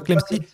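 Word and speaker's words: Clamecy: Oui, c'est bien le nom de cette commune et il se prononce effectivement comme cela.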